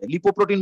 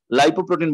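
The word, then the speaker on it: lipoprotein: যায় লাইও বলা যায় লিপো প্রোটিন বললেও ভুল হবে না লাইপো প্রোটিন বললেও ভুল হবে না তুমি যদি পড়ো এরকম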